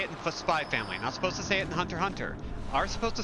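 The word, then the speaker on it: Hunter × Hunter: Yeah, man, it's Hunter x Hunter. The X is silent, like in my favorite comic book, Uncanny Men.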